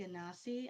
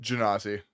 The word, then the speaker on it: Genasi: I say Ganassi. I don't know. Everybody says it different, but Genasi.